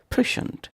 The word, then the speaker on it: prescient: Prescient. Prescient. 2 syllables.